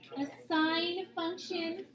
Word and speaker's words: sine: word so si an we pronounced as sine sinusoidal so oh I has that boy sound sigh so the sinusoidal axis